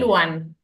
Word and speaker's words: L'wan: una L minúscula y se Ah, es una pronuncia L. Luan. Ah, Luam.